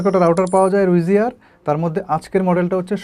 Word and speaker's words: Ruijie: কেউ বলতেছে রুইজি ই, কেউ বলতেছে রুইজি আ, কেউ বলতেছে রুইজি। উচ্চারণটা আই থিঙ্ক রুইজিয়া।